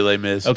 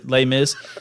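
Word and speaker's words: Les Mis: like that lay Miss just say lay Miz no one knows how to pronounce it yeah me neither lay Miz so he was in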